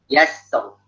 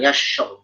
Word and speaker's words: يسر: Walaili idza yassar. Bukan yasyur. Kalau shin dia jadi action.